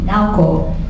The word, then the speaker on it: Naoko: right now, the company, Naoko is how you say it, but it's spelled